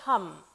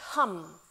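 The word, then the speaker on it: ham: the throat chakra is hum it's spelled h-a-m but it's pronounced hum as in the word humming and what this really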